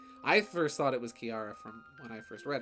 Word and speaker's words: Kiara: because you're you're you it's pronounced key era right I first thought it was Kiara from when I first